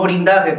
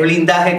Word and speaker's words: blindaje: nosotros hacer el sellado, el blindaje con L, no blindaje como decía el señor doctor Fabio Abreu, que cuando de vez en cuando sabe pronunciar la R. Esto es al caliente, cabrón, así que esto es así. De vez en cuando pronuncia la R, pero es blindaje con L, con L de largo, como la tengo, ya saben ese punto.